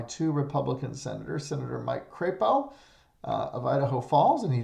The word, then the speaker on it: Crapo: is represented by two Republican senators senator Mike Crapo of Idaho Falls and he does pronounce it Crapo and Senator James rish who is the former